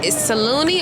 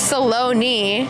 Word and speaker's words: Saloni: pronounce your name is Salone or salani it's Salone Salone Salone Salone like balone Salone with a s okay cuz I was